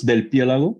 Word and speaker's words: Del Pielago: now hear from Daniel Dell hialago from Empower DC am I pronouncing your name correctly uh yes yes it's Del pielago if you want to